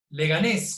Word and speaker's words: Leganés: Leganés, con acento en la segunda E, es una ciudad y municipio de España.